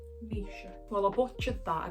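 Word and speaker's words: Naoise: go we're going to butcher it again nice noce stolen that is not correct I'm going to check how you pronounce that Nisha Nisha well I butched that I got that completely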